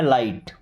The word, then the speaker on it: light: Okay, अभी GH के साथ जब T आता है तो ये बात तो आपको बताया गया है कि GH हमेशा के लिए साइलेंट होता है। ओके, बस हम T को पढ़ते हैं, बट ये I है ना, इसको क्या पढ़ेंगे, आई की तरह। जैसे LIGHT तो इसे पढ़ना है लाइट।